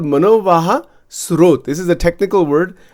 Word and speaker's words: manovaha: It's called manovaha.